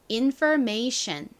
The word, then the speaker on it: information: 여기서는 R 소리로 쓰였습니다. 그래서 정확히는 infer 이라는 발음이 됐고요. 다음 M은 미음 소리, ATION은 Asian 이라고 발음이 되니까 연결하면 information이 됩니다. information. 그런데 한국식으로 쓸 때에는 보통 이 OR 부분을 그냥 O로 읽어서 information 이라고 적는 경우가 많습니다.